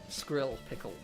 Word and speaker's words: Skrickle: bit where you specified skrill pickle. Skrill pickle, like dill pickle, but skrill.